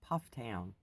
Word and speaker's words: Pufftown: For those of you who might have seen it and don't know how to pronounce it, it's Pufftown.